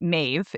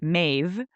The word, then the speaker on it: Medb: So this site that I'm speaking of, the back to Cruachan, was ruled by Queen Maeve, is how it's pronounced. It's spelled Medb, but Maeve, What?